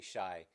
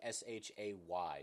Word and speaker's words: Shai: We keep saying Shai. It's S. It's pronounced like S h a Y. So like Shay.